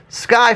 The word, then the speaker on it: SCCY: Sky Firearms, if you don't say it and then try to spell it, it's SCCY, just a pro tip for you.